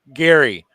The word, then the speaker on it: Gerry: But I tell you what, he pronounced his name as Gary.